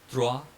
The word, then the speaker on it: trois: EAU is pronounced as O, so nouveau. Then we have this OI sound, trois, and then we have E with accent mark